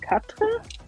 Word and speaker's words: Quatre: It's called Quatre. At least I'm assuming they're pronouncing it the French way.